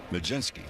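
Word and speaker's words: Mlodzinski: Change up from Majinski. Well, with Majinski, it looks like an eye chart. It's spelled M L O D Z I N S K I. Pronounce Majinski.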